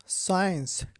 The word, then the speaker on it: science: সাইলেন্ট সি, সায়েন্স, SCIENCE, সায়েন্স, এখানে সি এর উচ্চারণ হবে না, সায়েন্স অর্থ বিজ্ঞান।